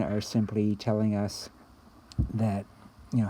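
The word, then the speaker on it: μ: have a population of your family whatever so if it's everything then it's the population and so again we call that we pronounce it you like what a cat says you alright and again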